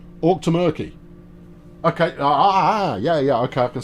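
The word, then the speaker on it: Auchtermuchty: The Outer Muckley in Scotland is pronounced Orc ter Merk T. Orc to Murky.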